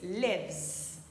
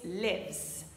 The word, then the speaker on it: lives: I live, you live, he, she, it lives. Alors, ce petit S qu'on rajoute à la troisième personne du singulier se prononce z, comme un Z. Encore une fois, he, she or it lives.